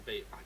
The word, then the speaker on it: Vive: No, it's Vive. It's a Vive. I got told the official pronunciation recently.